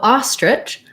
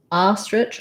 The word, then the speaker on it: ostrich: is the word ostrich so ostrich letter o says the ah sound ostrich also has first syllable stress so we will have a little stress line here and then um there's our letter i and that letter i does say the ih sound in ostrich and then the ch